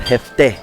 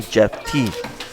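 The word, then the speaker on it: Jefté: They call me Jeff T.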